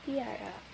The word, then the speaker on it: piara: Contohnya pada kata piara. Cara membacanya itu seperti ada huruf Y kecil. Jadi bunyi P itu terasa seperti ada huruf Y kecil. Piara. Tetapi Y-nya itu sangat halus.